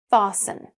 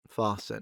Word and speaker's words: fasten: Drop the T sound. fasten fasten listen listen See how much smoother that feels?